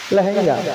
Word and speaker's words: লেহেঙ্গা: ওই লাঙ্গা পড়ে আছে না? কি পরে? লাঙ্গা নাকি বলছে? লেহেঙ্গা। লেহেঙ্গা?